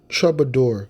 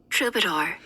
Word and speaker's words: troubadour: hold on hold on try trouble trouble uh chabador there it is hold on no shovel door how do I mean it should I get meaning yeah so let's get the pronunciation this is the word troubadour so Troubadours I'm going back to the medieval